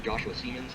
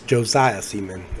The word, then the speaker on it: Josiah Seaman: But it is Josiah Seaman. I corrected him over the phone, and he changed it to Josiah Seaman, because that's actually how you pronounce his name. Maybe he just was trying to pronounce it a little bit more English-like, but it's pronounced Josiah Seaman.